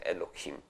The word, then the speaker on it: Elohim: existen vocales Este pero se sabe que así es como se pronuncia Elohim Okay con esas vocales de la O y la i ahí metidas Okay Por supuesto el